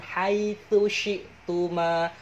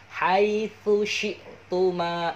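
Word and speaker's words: حيث شئتما: Wakula minha rogodan haitsu syi'tuma. Awas di sini biasanya banyak yang keliru ya. Yang pertama itu ta, yang kedua itu shin.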